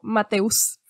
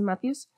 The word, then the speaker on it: Matthews: contarlos cabe mencionar que yo estaba pronunciando el nombre con como mateus lo estaba leyendo muy literal pero si se lo decimos en inglés es matthews y bueno en su